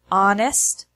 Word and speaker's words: honest: who whose and whole there are also some words that have a silent H in English such as our honor honest herb ere the H